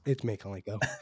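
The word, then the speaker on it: Mykolenko: just heard it on the TV this past weekend, so it's Mikolenko. Yeah, and then God, Dylan, you're gonna have to help me with that pronunciation.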